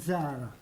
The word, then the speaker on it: Zara: also a Semitic tongue, the correct pronunciation is Buttigieg and Zara.